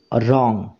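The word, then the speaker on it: wrong: এটা ভুল this is রং this মানে এটা রং মানে হচ্ছে ভুল দিস ইজ রং এটা ভুল তো এখানে দেখো রং এই শব্দটার ডব্লিউ এই লেটারটা উচ্চারণ হচ্ছে না তাহলে মনে রাখবে ইংরেজি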